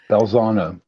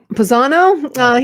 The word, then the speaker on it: Balzano: Is that how you pronounce his name, Sean? Balzano. Okay. Balzano.